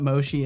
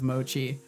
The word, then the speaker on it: mochi: know nothing John cobot he really wants to call it Moshi instead of Mochi doesn't want to pronounce that CH I think this is